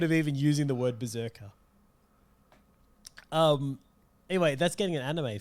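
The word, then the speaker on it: BRZRKR: And that's what they're running with because it's called Berserker. It's spelt BZZKR.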